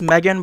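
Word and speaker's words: M3GAN: I think it's actually pronounced Megan, but I'm just gonna call it Mithrigan.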